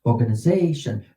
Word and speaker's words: organization: Organization. Run them all together. So long as you can, you have that high note on they. A, the penultima, the next to the last syllable. Organization.